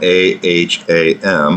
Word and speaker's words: aham: And this aham, A-H-A-M, aham is how it's pronounced and spelled, is the ego, basically.